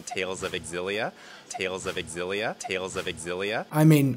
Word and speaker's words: Xillia: I had this confirmed I always called it Xillia anyway even from the first announcement it just